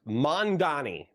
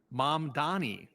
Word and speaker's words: Mamdani: Yeah, so I would say, I would pronounce that as mom, like my mom, and then Donnie, like a girl named Danny, but I'm changing the D to an Yeah, you U.